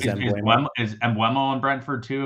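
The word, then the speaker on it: Mbeumo: You like him more than Burmo, who everybody pronounces as Embuemo?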